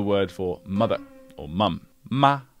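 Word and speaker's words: 妈: The way I would say the English word may be, maybe. So just try it with me. This is the word for mother or mum. Ma. Ma.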